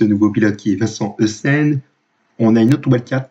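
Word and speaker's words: Eisen: Alors, nous avons un seul nouveau pilote, il s'agit de Vincent Essen. Malheureusement, je n'ai pas d'informations sur lui. Essen, qui s'écrit E-I-S-E-N.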